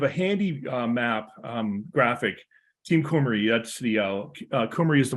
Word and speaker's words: Cymru: that in English, but Welsh is a strange language. W is a vowel in Welsh. Who knew? And if you are Welsh, I know I'm not pronouncing Cymru exactly right, but I